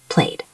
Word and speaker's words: played: If the word ends in a voiced sound, we pronounce ed as a D sound. Played.